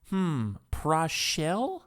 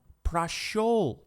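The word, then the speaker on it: прошёл: Prashel? Huh? No, prashol.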